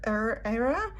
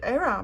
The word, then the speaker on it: era: say it's the silver era part of my pronunciation of the word era because in Italian will be era so I really have to fight my instinct anyway silver era tarot